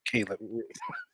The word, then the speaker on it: Caleb: So Caleb. I said Khalid. Yeah. You don't have Yeah, I no did. H in there. It's Caleb.